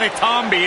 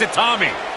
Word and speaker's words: Itami: Well, Byron, if you're talking about respect, at least you could pronounce the man's name right. It's not Itami, it's Itami.